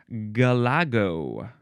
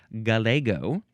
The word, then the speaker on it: galago: Okay, now we got to move on to Galago. No, this would be you could say galago. Yes, that is fine. Or you could also say galgo.